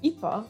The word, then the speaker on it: ipa: it means industry but if we lose the r at the end so it's ipa we say ifa which is a very very old-timey word for father-in-law oh connection that was very